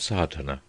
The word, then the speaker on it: sadhana: A word may be added about the pronouncing of sadhana. The accent falls decisively on the first A, which has the broad sound of the letter.